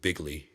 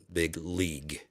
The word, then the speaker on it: big league: It's a it's a big league fucking like bigly. Bigly. It's very bigly. No, big league. League. I know it's spelled weird for you, Trump.